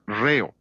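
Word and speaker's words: ῥέω: nuestra palabra ritmo es la palabra griega reo r h e o la H es el acento en griego por eso acentuamos la primera sílaba de la palabra ritmo Jesús usó esa palabra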